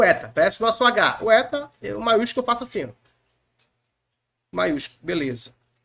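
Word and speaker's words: ἦτα: vamos falar do eta eta cabra bom como na palavra fé a fé aqui é no caso mais aberto como na palavra felo felo nesse sentido Tá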